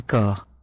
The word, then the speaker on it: corps: Les parties du corps. Les parties du corps. Les parties du corps. P is silent here.